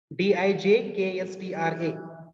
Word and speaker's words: Dijkstra: Varda, can you pronounce this? Dijkstra.